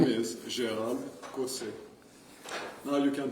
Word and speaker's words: Gérald Caussé: I'm used to all kinds of pronunciations that you find according to the accents of the world, but my French name is Gérald Caussé.